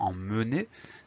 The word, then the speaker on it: emmené: ya une grosse particularité parfois on va prononcer en me comme dans un an nous avions emmené et parfois ça va se prononcer est comme dans j'emmène et à ce moment